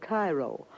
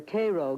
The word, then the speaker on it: Cairo: soil in and around cairo or cairo giving it the illinois pronunciation resembles that of its